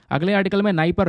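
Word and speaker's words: Dnieper: क्या है इंपोर्टेंट है नाइप रिवर पर डी साइलेंट है बाकी नाई पर इसको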